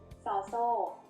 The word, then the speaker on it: ซ: It's called Sao So. The word So means chain. Sao So makes an S sound like the S in sun when it's the initial sound of a syllable. And when it's the final sound of a syllable, it also makes a T stop, which is a dead sound.